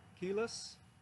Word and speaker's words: Keyless: my name is keyless you pronounce that like saying you have no keys your key less right so anyways that's